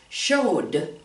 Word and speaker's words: showed: So when we add the ED, how do we pronounce that word? Showed, showed, with the D, D sound, okay?